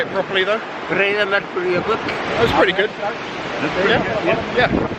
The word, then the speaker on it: Breiðamerkurjökull: Breiðamerkurjökull.